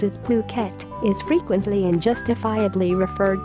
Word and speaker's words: Phuket: worldwide the beautiful tropical island of Phuket fortunately pronounced as Phuket is frequently and justifiably referred to as the